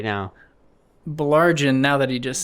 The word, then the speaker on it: Baillargeon: Baillargeon.